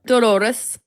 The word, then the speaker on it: Dolores: It's Dolores. It's right. How do you spell it?